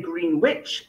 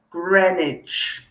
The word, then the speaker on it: Greenwich: 30 greenwich greenwich okay so you see that w is silent we don't say green witch it's greenwich okay um it's a